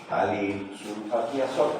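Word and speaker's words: ftalilsulfatiazol: ejemplo el talil sulfatiaol, no se lee la f desde la toma talil, pero se escribe con esto. Talil sulfatiasol, así se llama.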